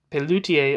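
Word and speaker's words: Pelloutier: i e r and I may be pronouncing his name wrong you know what why don't I check it out what am I doing I have all the moded conveniences right here it's Peltier see peler opposed the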